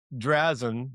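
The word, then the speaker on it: Drazan: the tide, hey, before I forget, so Drazen, I don't even know how to say her name.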